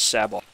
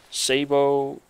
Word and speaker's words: sabot: you guys saying it's sabot sabo s-a-b-o-t does that really sound like an english word to you no it's not it's french so i pronounce sabo same thing with garage